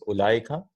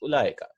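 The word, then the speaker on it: أولئك: Zalika, tilka is ulaika, the far, yeah? The ishara for far things, those, ulaika. Right? And we write ulaika with a vav, but this vav is not pronounced, right? We don't say ulaika.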